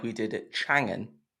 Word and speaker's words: Chang'an: we did at Changan, now I have to consciously think about how I pronounce it so I don't say it wrong. So I don't want to get a slap on the wrists from the PR people at both those brands. But it's Aeon, and it's Chang'an, not Chang'an, and it's not Ion.